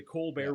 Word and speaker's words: Colbert: Colbert report, but they pronounced it the Co Bear Report.